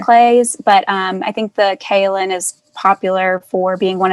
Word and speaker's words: kaolin: a little bit of kale and clay did i say that properly i think that's how you say it i mean kaolin clay that's how we say it great that's totally it